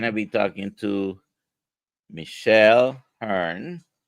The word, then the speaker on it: Hurn: So today we're going to be talking to Michelle Hurn. Hope I'm pronouncing that correctly. That's correct. Yes, sir.